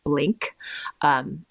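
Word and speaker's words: Blinc: And I was really excited for it because I have a tubing mascara that I love that's made by a company called Blink. It's spelled just like the word blink, but instead of a K at the end, there's a C.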